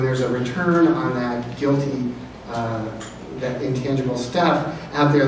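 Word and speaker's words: GILTI: So it's guilty income. People will say guilty income even though the I is income, but that's going to be taxed on a current basis in the U.S.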